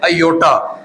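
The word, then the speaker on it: iota: Minus की वजह से एक नंबर आता है जो जिसको पढ़ते हैं आयोटा जिसको क्या पढ़ते हैं? जी आयोटा। इसके जो स्पेलिंग है वो आई ओ टी है।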